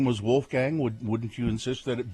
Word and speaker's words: Wolfgang: If my name were Wolfgang, I would say my name, and I would say you have to pronounce it correctly. Not Wolfgang, it's Wolfgang.